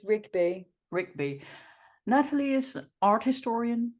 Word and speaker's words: Rigby: Do I pronounce that right? Rigby or Rigby? Rigby? It's Rigby.